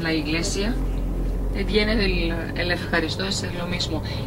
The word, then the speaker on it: ευχαριστώ: La palabra eucaristía, que la utilizamos en la iglesia, viene del el ευχαριστώ, es lo mismo. EU en griego se pronuncia como EF, ευχαριστώ.